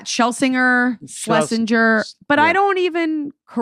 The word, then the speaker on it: Shlesinger: That's Shlesinger. There you go. Miss Iliza Shlesinger. What's the most common mispronunciation, or is there one?